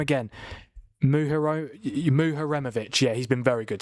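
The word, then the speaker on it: Muharemović: Is it Muhiroma? I forgot you say his name again. Muharemovic.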